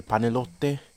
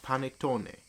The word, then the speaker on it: panettone: I have to move the panelotte. Is that how you say it? Panettone.